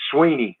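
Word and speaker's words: Swinney: It's Dabo, as in apple, Dabo, and I get all kind of pronunciations of that, and it's Sweeney, as in just like EE.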